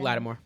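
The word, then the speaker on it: Lattimore: Latimore.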